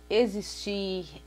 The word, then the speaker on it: existir: Vamos ter o X também com som de Z, como nas palavras existir, execrar, exame, todas, olha, quando